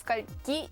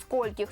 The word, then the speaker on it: скольких: еще известный журналист использовал фразу скольки спектакля сделав ударение на последний слог учительница пояснила что правильно будет сказать в скольких ударением на первый в общем если вы